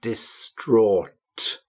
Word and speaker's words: distraught: See how I've spelt it here on the screen and the pronunciation, distraught, distraught.